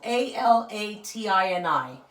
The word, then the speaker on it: Alatini: There's also another brand called, which might be easier for you guys, Alatini. So think of, I don't know, Aladdin, but with a T and an I at the end. So Alatini.